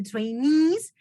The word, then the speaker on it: trainee: few customers okay uh trainees we need to make the stress on the second multiple to produce the stress of the second syllable train is a trainee um not really